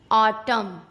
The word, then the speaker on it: autumn: किसी वर्ड में एम और एन दोनों एक साथ आते हैं तो एन साइलेंट हो जाता है। भाई क्यों? रूल कहता है इसलिए। एम एन एक साथ हो तो एन को चुप रहना पड़ता है। ओके। जैसे AUTUMN, ऑटम, column, dam, hymn.